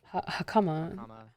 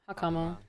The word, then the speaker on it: hakama: Isn't really a a stressed syllable in Japanese words. So like hakama hakama. However, hakama.